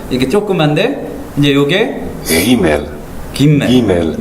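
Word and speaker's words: גימל: 이제 좀 이렇게 강하게 하긴 하는데 김멜. 그러면은 요거는 무슨 발음일까요? 기억 생각하면 되겠죠.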